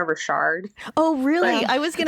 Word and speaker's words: Richard: be Smith and Lena Richard I actually think I've been mispronouncing her name I think it's Lena Rashard oh really I was